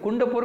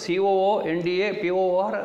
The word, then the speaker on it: ಕುಂದಾಪುರ: ನನಗೆ ಕುಂಡಪುರ ಕುಂಡಪುರ ಆಗಿಯೇ ಉಂಟು, ಅದು COONDAPOR ಆಗಿ ಉಂಟು ಕುಂಡಪುರ, ಏನು ಅರ್ಥವೇ ಇಲ್ಲ ಅದಕ್ಕೆ. ಚಂದದ ಹೆಸರು ಕುಂದಾಪುರ, ಕುಂದವರ್ಮ ಆಳಿದಂಥ ಜಾಗ ಅಷ್ಟೇ ಚಂದದ ಹೆಸರನ್ನು ಇವರು ಕುಂಡಪುರ ಮಾಡಿರಲ್ಲ, ಎಂಥಾರು ಮಾಡ್ಕೋದಕ್ಕೆ ಅಂತ ಹೇಳಿದೆ.